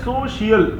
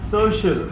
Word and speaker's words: social: अब कितने बच्चे कह रहे हैं सोशल? That's wrong. Social. Come on, say social.